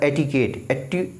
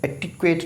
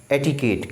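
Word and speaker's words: etiquette: इसका प्रोनाउंसिएशन होता है एटिकेट, एटिक्वेट नहीं, एटिकेट।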